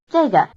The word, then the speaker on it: 这个: 这个，这个，这个， It may be helpful to remember that the answers 这个 this, 这儿 here, 那个 that, and 那儿 there are all in the falling tone, while the questions 哪个 which and 哪儿 where are both in the low tone.